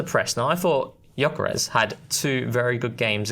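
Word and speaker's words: Gyökeres: on Sky Sports where Guyarez Yokarez actually we got to pronounce it properly. I got told off for that. And there's no esh either which I learned recently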